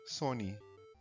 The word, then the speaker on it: Sony: Para a pronúncia japonesa não ficar son, pois esse somia remeter a palavra em japonês para perda, algo não lucrativo, deixar apenas com um N, Sony.